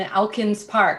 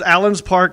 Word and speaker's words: Elkins Park: suburb of philadelphia and elkins park i noticed when you guys did the little segment on us you mispronounced the name of our town yes but that's okay